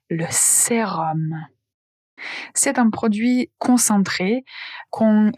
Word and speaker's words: sérum: Attention, sérum s'écrit s e r u m, mais la prononciation, c'est om, le sérum.